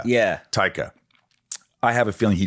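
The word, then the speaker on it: Taika: always it up uh TAA taica yeah taica I have a feeling he just calls you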